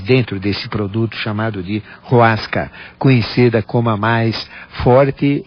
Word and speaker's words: Hoasca: Isto então popularizou o que é usado hoje com o nome mais simplificado de Roasca. Então, é H-O-A-S-C-A, Roasca, que se pronuncia com R, Roasca.